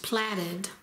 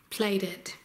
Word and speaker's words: plaited: it's 12in finished now I always thought that that word was pronounced platted but I looked it up and they pronounced it plate plated so that's what I'll